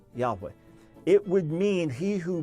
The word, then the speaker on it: Yahweh: year hey love hey the best scholarly reconstruction we have is that it was pronounced Yahweh Yahweh it would mean he